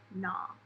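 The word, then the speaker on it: gnaw: on you just say nah so the W the K and the G are silent okay so the first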